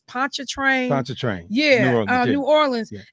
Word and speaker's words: Pontchartrain: He's from, and I always mispronounce it, but I think it's Pontchartrain.